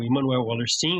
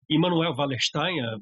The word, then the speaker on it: Immanuel Wallerstein: A análise dos sistemas mundo é uma proposta teórico-metodológica lançada pelo sociólogo e cientista social Immanuel Wallerstein, ou Immanuel Wallerstein. Ele era americano, mas a pronúncia, o nome é meio alemão.